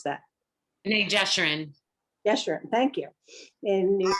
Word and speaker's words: B'nai Jeshurun: And since 2001, she served as rabbi at B'nai, how do you pronounce that? B'nai Jeshurun.